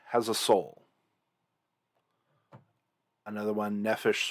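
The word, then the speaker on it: נֶפֶשׁ: translation you'll see with nephesh is the word soul so i said no fish has a soul another one nephesh sort of rhymes with selfish i mean sorta but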